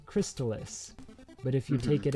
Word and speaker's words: Crystalis: anyway so jetty yes how do you pronounce the video game crystalis now have you always pronounced it like that i have always pronounced it crystallus um but i know i am uh in the minority i believe and just i wonder